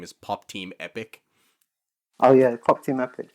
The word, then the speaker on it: Pop Team Epic: Pop de pic. You don't know Pop de Pipic? I can't even pronounce that.